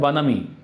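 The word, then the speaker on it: bonhomie: The political इसको pronounce करते हैं बनामी।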